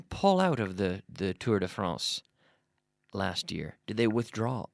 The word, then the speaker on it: Tour de France: do we try to we try to pronounce it the French Way Tour de France Tour de France but we don't say the tour of France of France we say the Tour de France we we we pronounce it or we make an effort in English to pronounce according to the native language which is French in this case Tour de France but